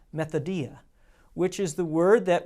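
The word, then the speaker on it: μεθοδεία: The actual Greek word that is translated into schemes is a word that you may even recognize as it is pronounced methodia, which is the word that we get our English word method from.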